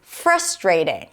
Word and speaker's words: frustrating: Well, this one is a tricky one because in the US it is likely to be pronounced as frustrating. Stress is on the first syllable.